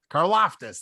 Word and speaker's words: Karlaftis: Burks, Carla Fittis. I don't know how to pronounce his name. Karlaftis, thanks.